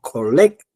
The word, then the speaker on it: collected: Acento en en la e. No. Collected.